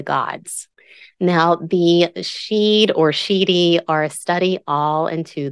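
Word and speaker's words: sidhe: What I pronounce as sheedy is spelled S-I-D-H-E, and sheed is S-I-D.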